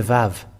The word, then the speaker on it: Vav: And this Vav, it is pronounced as V. But it's people who change it into U and U. U and O, and it's later that it has been changed to O and U, but earlier it was not that.